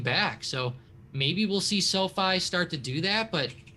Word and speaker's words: SoFi: either one's fine right i think i hear so many people call it sophie and then people called sofi and i don't know but i guess i'll just stick with sofi but yeah it's uh it's